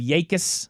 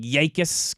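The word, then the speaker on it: Jacas: and Dane Brugler and they were pronouncing it like Yakus kind of. Yakus Yakus.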